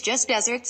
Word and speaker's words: just deserts: like the aired land but pronounced like the sweet treat twl today we learned